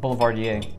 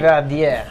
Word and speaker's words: Boulevardier: whiskeys that adds layers of complexity to the Boulevardier. Now, if I'm not mistaken, Boulevardier translates somewhat to man who walks around town, socialite. Boulevardier. Boulevardier, yeah. Don't say Boulevardier.